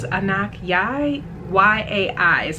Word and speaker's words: Anok: is named after this supermodel um anak i believe is a knock yeah y-a-i is how